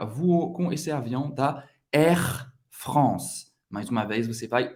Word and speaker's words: Air France: France, A-N, mais uma vez, tem o som do AN. Air France. Não vai pronunciar o E no final.